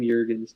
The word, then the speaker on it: Jurgens: Yeah, I did not expect Cam Jurgens to go that high, but... Is it pronounced Jurgens? Jurgens, yeah. Oh, damn. I've been saying Jurgens.